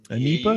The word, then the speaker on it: NEIPA: the other is an anipa anipa is how you say it that's how you pronounce it right and any ipa new england ipa so for that one